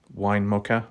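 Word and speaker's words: Winnemucca: Going all the way down there past Winnamucka, that's how you pronounce it, Winnamucka, little town.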